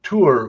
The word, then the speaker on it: Thor: i i speak norwegian and tour which is thor it's how you actually pronounce thor in the region it is a common